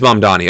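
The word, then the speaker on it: Mamdani: Is that how it's spelled? It is Mum Donnie.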